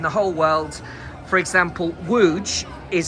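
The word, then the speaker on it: Łódź: For example, Wuj is spelled L O D Zed.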